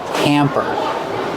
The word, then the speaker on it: hamper: Pronunciation used a short A sound like ham and ma'am. Hamper. I put my dirty clothes in the hamper.